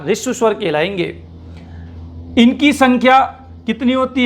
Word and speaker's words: ह्रस्व: तो ध्यान रखिएगा, इसका सही उच्चारण है ऋष्व स्वर। क्या है? ऋष्व स्वर।